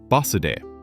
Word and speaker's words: バスで: The answer is basude.